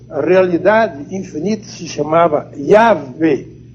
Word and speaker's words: Yahvé: Entre os hebreus, a realidade infinita se chamava Yahvé, falsamente pronunciado Javé. Yahvé, ou Jeová, alguns pronunciam, mas a pronúncia hebraica é Yahvé. Yahvé, com Y no princípio.